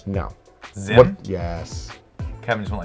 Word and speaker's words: Zim: okay okay so comment his name rhymes with my name Jim no but it he's from space so he's all futuristic and okay his name is Lim no Zim yes Kevin just went